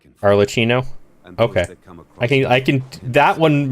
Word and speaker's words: Arlecchino: Like cappuccino, but Arlecchino?